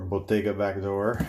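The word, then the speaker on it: Bottega Backdoor: huge shout out to backdoor bottega or botega back door as it's pronounced in bologna italy and uh man let's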